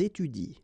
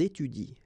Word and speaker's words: étudient: exactly the same rule because you don't pronounce this and then even if it's at the plural form, so and t, well, you don't pronounce it, so you will get ils étudient. All right, ils étudient. You don't pronounce that.